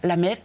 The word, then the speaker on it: la mer: Que además en francés hay un juego de palabras que es muy bonito porque se escribe distinto, mar y madre, pero se pronuncia exactamente igual. La mer, la mer.